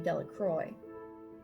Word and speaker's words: Delacroix: Jones and Dicky dellacroix the villagers pronounced this name Delacroix eventually made a great